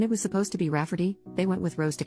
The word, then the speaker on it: Rafferty: sister wanting to name my niece Rayfarty, pronounced Rafferty, not at all like Rayfarty.